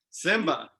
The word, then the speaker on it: Symba: Simba. SYMBA. SYMBA. Yep. Simba like the lion, but I think the lion is spelled with the I and not a Y.